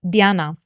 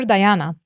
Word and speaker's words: Diana: So today's topic is Diana, or Diana, as English speakers tend to say, the goddess, obviously Diana. I'm going to use both Diana, which would be the Latin pronunciation, and Diana, because Diana